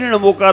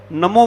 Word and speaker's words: णमोकार: तो हमें जब भी णमोकार बंद बोलना है उच्चारण ऊपर होना चाहिए ना का और नमो बोलते हैं तो वो आज शतांबर समाज ने ले लिया और संस्कृत का है वो वो भी सही है नमोकारो सही है या नमो यारो सही